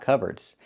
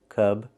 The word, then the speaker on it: cupboard: So the P is silent. Cubard.